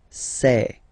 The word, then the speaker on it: sais: Okay, final S not pronounced, and then you get this A-I-E, okay. Je sais. Sais.